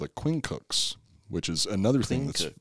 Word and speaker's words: quincunx: The maniples were arrayed in a checkerboard pattern called a quincunx, which is another thing that's, yeah, it's hard to pronounce.